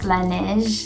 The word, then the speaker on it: Laneige: So if you don't already know of Laneige, well, first it's pronounced Laneige and it means the snow in French. It's supposed to be separate, like la and then neige, because it's 2 different words, but I don't know why they put it together.